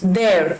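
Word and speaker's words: there: तो ये होता है देयर का यूज, देयर, आर में फिर साइलेंट कर रही हूं, देयर, ठीक है, देयर।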